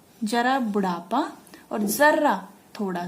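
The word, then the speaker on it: ज़रा: इससे शब्द का अर्थ बदल जाता है, जैसे जरा बुढ़ापा और जरा थोड़ा सा, ठीक है। उच्चारण करने से, सही से उच्चारण करके देखिए इसका, जरा, जरा बुढ़ापा और जरा थोड़ा सा।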